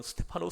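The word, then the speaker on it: Στέφανος: 한사람 수 제반 이 스데반이 헬라 발음으로는 스테파노 씁니다 이 스테파노 스가 면류관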